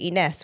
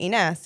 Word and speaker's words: Inas: name because they say iness which is almost like inas and I love the way Arabs say inas you know but then